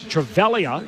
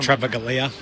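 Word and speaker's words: Toby Travaglia: fixture at the G Toby travalia is how they're telling me it's pronounced travalia yeah travalia y so it's not tralia no so the the G isn't hit in uh in tralia for for silda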